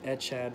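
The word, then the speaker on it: אחד: As always with translated Hebrew in this book, the CH in this phrase is pronounced like that in the Scottish word lock.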